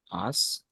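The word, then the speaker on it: IaaS: call it I AAS we pronounce it as ask and then there is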